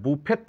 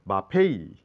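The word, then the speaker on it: buffet: উচ্চারণ উচ্চারণ নেই এটা বুফেট নয় এর উচ্চারণ করতে হবে বাফেই বাফেই এখানে টি সাইলেন্ট ই তো সাইলেন্ট তাহলে বাফেই মানে খাবার টেবিল এটা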